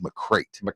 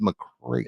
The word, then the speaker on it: McCreight: always get these hard names I think it's McCrate we get the we we always get the names they're tough to pronounce but I'm pretty sure it's McCray MC capital c r e i g h